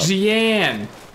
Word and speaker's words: Jeanne: She's like, you could have John as, like, Who is John? Or Jean. She's like, oh, Bayonetta 2. It's the French pronunciation of the name. I keep fucking it up. Jeanne!